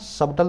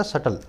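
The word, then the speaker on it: subtle: सटल नाम का word इसमें भी साइलेंट होता है गूगल मत बोलना सबटल मत बोलना यह सटल भी साइड है ढल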